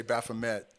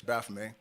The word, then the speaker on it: Baphomet: lot of people say Baphomet, but the T in French at the end of a word is silent, so it's Baphomet.